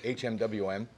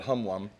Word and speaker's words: HMWM: a high-molecular-weight methacrylate or for people that can't pronounce meth acrylate hm wim and in the West they call it hum WOM and we were going